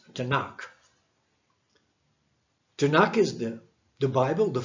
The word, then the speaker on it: Tanakh: and you have T-N-K, and then you pronounce it as Tanakh.